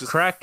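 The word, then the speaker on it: craic: yeah yeah Irish lingo crack is is spelled as C or a i c in Ireland slang for for fun just get it's fun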